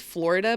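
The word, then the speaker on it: Floride: cool way this woman whose name is Florida but it's spelled like fluoride I don't know if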